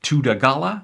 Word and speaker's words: Thudagala: I see it's now pronounced Tudagala, so sorry for that.